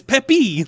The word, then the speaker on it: Peppy: It's not Pepe. It's Peppy. Like Peppy.